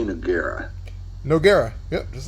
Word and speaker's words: Nogueira: How do you say Nogueira?